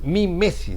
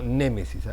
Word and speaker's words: mimesis: Mimesis, no némesis, mimesis.